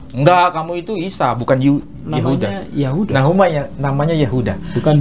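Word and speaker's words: يهوذا: Yahuda. Bukan Yehuda ya. Yehuda bahasa Arab, bahasa ee Ibraninya Yehuda.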